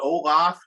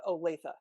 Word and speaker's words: Olathe: you can correct me is it olaf or olafi how do you pronounce it uh olathe olathe yeah i got it wrong but anyway these